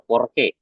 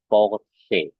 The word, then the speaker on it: Porsche: Kalau CH-nya di sini bertemu E di terakhir, posisinya sama seperti SCH tadi jadinya bunyinya. Jangan dibaca Porsche, tapi dibacanya Porsche ya.